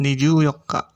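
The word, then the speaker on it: 二十四日: Kemudian 21 sampai 23 mengikuti bilangan, kemudian 24 juga khusus sebagaimana pengucapan tanggal 14. Jadi pengucapannya untuk tanggal 24 Niju Yokka seperti itu.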